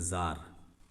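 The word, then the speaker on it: tsar: यहाँ पे भी जो किंग था उसको बोलते थे ज़ार, ये टी साइलेंट है, ज़ार बोलते थे।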